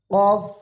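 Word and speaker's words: ق: ফা ফা ফা কফ কফ কফ কফ কফ কফ আমরা 10 বার বলবো প্রতিটা হরুফ 10 বার উচ্চারণ করব কফ একটু বাড়ি খাবে গলার ভিতরে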